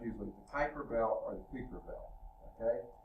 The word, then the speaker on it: Kuiper Belt: I think the right pronunciation is Kuiper Belt. I've heard someone call it a Kuiper, which could be some. In fact, most languages, an I doesn't have a long I sound, it has a sort of a short E sound. So that may be closer to it, but I've heard it most of the time called Kuiper Belt.